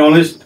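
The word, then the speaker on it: honest: এমন একটা শব্দ হবে যার শুরুটা কি হবে ভাওয়েল মতো লাগবে শুনতে তাই অনেস্ট ম্যান হবে কি হবে অনেস্ট ম্যান অনেস্ট দেখো উচ্চারণটা ভালো শুরু হয়েছে না সেই কারণে আগে এন বোস্ট করবো ঠিক আছে হয়ে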